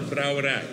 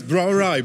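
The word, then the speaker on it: brouwerij: Brauerei. This is Brauerei? Yeah, it sounds the same as the German brewery. It's like Brauerei. Okay. Yeah. I just. Okay. It's Brauerei, but it's spelled brewery.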